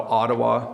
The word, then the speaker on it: Ottawa: is here hello gurveer wants to know how Ottawa is pronounced so you just heard it and then